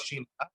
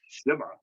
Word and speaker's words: Shima: But the first couple of times when I went by Shima, they were starting to pronounce it Shima. So Shimmer.